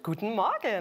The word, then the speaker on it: Guten Morgen: Good morning from Vienna, or should I say, is it Guten Morgen? Guten Morgen. There we go. She has the pronunciation Exactly.